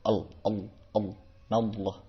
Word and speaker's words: Allah: Dibacanya L tebal, yadhkurunallah. L tebal, Allah. Jadi bukan menjadi A W L O H, bukan menjadi naullah, bukan gitu. Tapi L tebal, nallah. Berbeda dengan lam tarkik atau lam tipis.